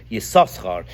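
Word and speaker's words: Yissachar: So if you're going to translate it, or read it with the 2 shins, it should be Yisachar, which some people do that the first time it comes. This summer they say Yisachar, but we pronounce it Yisachar. Our minig is to pronounce it Yisachar all the time.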